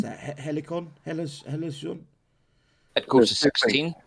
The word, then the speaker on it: Halcyon: how do I pronounce that? Helicon? Helicon? It goes to 16. Halcyon.